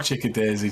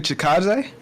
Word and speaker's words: Chikadze: That's how I say it. It's not Chickadaisy. J-Dime knows how to say it, but it's... How do you correctly say his name, J-Dime? Giga Chikadze?